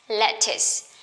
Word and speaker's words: lettuce: Remember, C-E at the ends and we pronounce lettuce, lettuce.